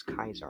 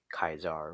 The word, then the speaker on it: Caesar: to be brother and says Kaiser in the classical Latin word pronunciation favored by the Legion, like Joshua Graham used the proper English expression. So you could say Kaiser or Caesar, whatever you want to call him.